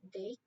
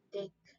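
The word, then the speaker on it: deque: Jadi dapat diketahui bahwasanya sebuah query pronounced as dick, dick, atau sebuah double-ended query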